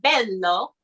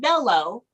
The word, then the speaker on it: bello: now be careful because um the word bello is spelled b-e-l-l-o so it's not bellow because what happens is um in other languages